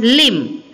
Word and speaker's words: limb: And next one, limb. Limb, here the B is silent.